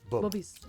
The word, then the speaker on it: Bubbies: Bubbies.